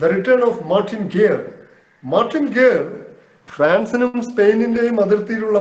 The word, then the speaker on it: Guerre: The return of Martin ഗേർ, French ഭാഷയിൽ അതിന്റെ ഉച്ചാരണം ഗേർ എന്നാണ്, സ്പെല്ലിംഗ് GUERRE, ഗ്യൂറെ എന്ന് നമ്മൾ വായിക്കും. Martin ഗേർ, the return of Martin ഗേർ, അതൊരു സംഭവ കഥയാണ്.